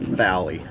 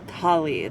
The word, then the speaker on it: thali: There's a way to have the H, like TH. PH, BH, TH is a sound that we don't have in the English language, and it's very difficult to say it correctly. So, because it's not thali. no, it's not thali, it's thali.